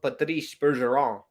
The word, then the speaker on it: Patrice Bergeron: classical to everybody like my pronunciation of Patrice Bergeron that's how you that's how you properly say his name and you gotta add the Flair Italian I don't know I know he's not Italian but you got to add that kind of it's the French Flair Oh shot by Mack